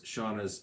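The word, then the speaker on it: Shana: odd because it's not it's spelled s-h-a-n-a and it's pronounced shawna so they swore they're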